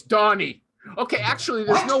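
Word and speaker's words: Dagne: it now i always thought her name was dagny it's donny okay actually there's no y it's just d-a-g-n-e d-a-g-n-e i thought it was scandinavian i have no idea okay okay okay yeah but now it's pronounced donnie okay and she understands and she said and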